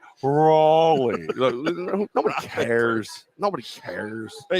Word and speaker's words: Raleigh: It's Raleigh.